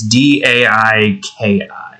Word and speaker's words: Daiki: And we got name-dropped Daiki up here. Assuming I'm saying that correctly, it's D-A-I-K-I.